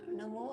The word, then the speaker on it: णमो: अब हम नियमों आ णमो आयरियाणं ॐ का जप करेंगे तौर पर इस बात का ध्यान रखेंगे अगर आप बोल रहे हैं तो नमो नहीं बोलना ण वह बोलना है कि शुद्ध उच्चारण के